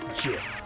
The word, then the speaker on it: GIF: .gif, like the peanut butter.